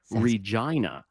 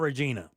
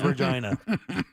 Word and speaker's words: Regina: The capital of Saskatchewan is Regina. Oh, man. Nope. Yeah, you have to say it like that. Turning off my mic. Definitely not Regina. It is Regina.